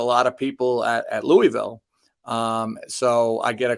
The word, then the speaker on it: Louisville: last year either and as a Colorado kid we pronounced it Lewisville because there's a louville Colorado and that's how Americans